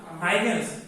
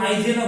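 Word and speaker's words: Huygens: sir diffraction spelling ডিফ্র্যাকশনের হাইগেন্স HUYGEN মানে এস তো হচ্ছে তোমার এমনি জাস্ট হচ্ছে ইয়ের জন্য আসে মানে হাইগেন কেউ হাইজেনও বলে হাইগেন বা হাইজেন দুইটা প্রোনাউন্সিয়েশন তোমার হচ্ছে अवेलेबल আছে এই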